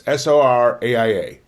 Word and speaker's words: Soraia: Jolene by a band, I believe it's pronounced Soraya or Soraya. It's Soraia.